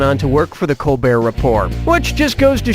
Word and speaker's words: Colbert: of The Colbert Report changed the pronunciation of his name from Kolbert to Colbert and that's how he